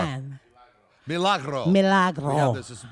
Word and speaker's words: Milagro: Milagro.